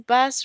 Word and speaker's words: bass: Now, the double bass is the largest string instrument in an orchestra. In the sentence, bass rhyme with case. So bad is a variety of spiny, finned freshwater and saltwater fish. In this sentence, bass rhymes with grass.